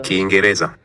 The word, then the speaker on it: Kiingereza: There's actually two I's, so Kiingereza. a very subtle Kiingereza. Kiingereza. Speaker stressed the next to last syllable.